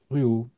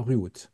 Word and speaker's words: Ruault: Anthony Aucher et Ruot. Bonjour tous les deux, Anthony et. J'espère qu'on ne prononce pas le T, on ne dit pas Ruot.